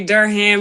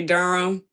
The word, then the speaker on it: Durham: Yeah, but you don't say Durham. You just say Durham.